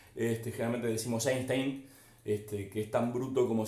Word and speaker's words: Einstein: explicar a míster einstein la pronunciación correcta sería a in style pero no conozco a nadie que viva insta en secreto en algún documental y link o estéticamente decimos einstein que es tan bruto